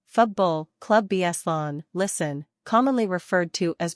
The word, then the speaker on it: Futbol Club Barcelona: Futbol Club Barcelona, Catalan pronunciation, Futbol Club Barcelona, listen, commonly referred to as Barcelona and colloquially